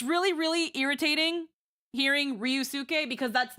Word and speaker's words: Ryusuke: So again, in this case, everyone's saying Ryusuke. So they're adding a Y here that's not here.